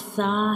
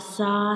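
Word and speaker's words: ث: So these two letters zal and sa have same pronunciation but have different sounds and different shapes.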